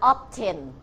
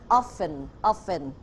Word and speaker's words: often: ต้น ด้วย คำ ว่า How ไม่ อ่าน ออฟเทน ตัว นี้ อ่าน ออก เสียง How often นัก เรียน ปลาย ทาง ก็ อ่าน ให้ ถูก ด้วย นะ คะ ตัว T ไม่ อ่าน ออก เสียง อ่าน offen แล้ว ก็ การ ตอบ โดย